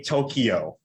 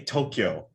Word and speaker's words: Tokyo: across millions of millions do not say tokyo say tokyo just learn how to say it if you're in the